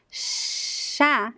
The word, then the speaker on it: chá: So, chá is like the SH, chá.